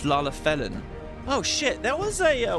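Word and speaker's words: Lalafellin: But as you asked, my employer, a Lalafelian lad... Oh, it's not Lalafelian, it's Lalafelin.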